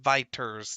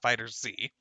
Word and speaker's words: FighterZ: I actually found out it was actually pronounced Viters, not Fighters Z.